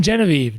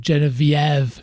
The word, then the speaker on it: Genevieve: It's not even Genevieve. Genevieve. Well, that's how you say it in French.